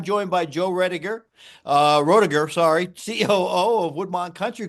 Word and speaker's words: Roediger: I I laugh because I was going to guess Joe Roiger and then u he confirmed that's the right way to pronounce it and I I botched it up in the in the in the intro.